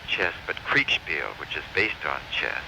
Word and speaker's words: Kriegspiel: There was also a chess group, where, not chess, but Kriegspiel, which is based on chess. Oh. It's, how do you spell that? Well, it's German for war game. Oh, Kriegspiel. Krieg, K-R-I-E-G-S-P-I-E-L.